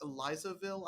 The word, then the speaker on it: Elizaville: apple farm in uh I believe it's pronounced elizaville I hope I'm saying that right New York yeah um